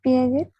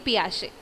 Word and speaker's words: Piaget: Jean Piaget. It's Piaget. Okay, Piaget. Okay, actually it's Piaget. You are right, but the pronunciation that is Piaget, which means P Shay.